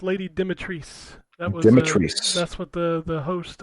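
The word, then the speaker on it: Lady Dimitrescu: ass yeah um her her name is pronounced lady demetris that's what the the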